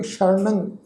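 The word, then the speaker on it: ਸ਼ਰਣੰ: शरणंग शब्द ससे पैर बिद्दी लगा के पाठ उच्चारण करांगे शरणंग।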